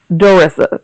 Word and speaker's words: Darissa: My name is Darissa. That's how it's pronounced, but you can call me.